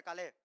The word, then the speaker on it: Caleb: Ahí se pronuncia Calé.